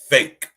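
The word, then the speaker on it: PHEIC: an endemic it is a fake but it's pronounced fake and a fatigue pronounced fake right applies to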